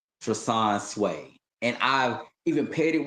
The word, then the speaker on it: Treson Swae: Like it's the flow of the name Trasan Sway.